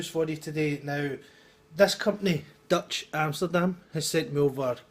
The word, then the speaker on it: DVTCH: Now it is Dutch spelt with a V, so it's DVTCH Amsterdam, and that's the website I think.